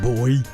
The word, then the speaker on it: buoy: Now I think it's within the buoys and yes it is pronounced buoy in certain parts and then other people kind of say it more like boy you know so like it it depends on your region but I have had that as a comment.